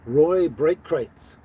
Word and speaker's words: Roy Breitkreutz: But when you pronounced it, his name was Roy Breitkreutz, and it was spelled like you couldn't read it and pronounce it, but if you just heard it, Roy Breitkreutz.